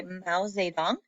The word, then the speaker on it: Mao Zedong: It was the communists led by Mao Zedong. That's how you say that name.